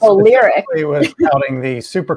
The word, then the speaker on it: Lyriq: And this was all to promote Cadillac's electric vehicles, the Lyrique. Is that how you pronounce it? Lyric, yeah. And it's Lyric.